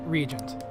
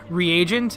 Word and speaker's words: Regent: to the emperor persona Regent I feel like my bond with you skate will grow stronger soon also I'm pretty sure last time I mispronounced that name the name of that persona as reagent and the reason for